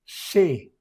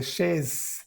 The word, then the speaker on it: chez: Se dice E, chez. Vous, il y a, no se pronuncia la Z, claro. Chez, no se dice chaise ni chaise, sino chez.